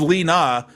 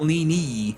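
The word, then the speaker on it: Leena: with Lena this morning this is Lena not lenie thank we can actually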